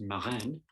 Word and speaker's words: marraine: Oh, it's actually pronounced Marraine. Marraine. Because it's French.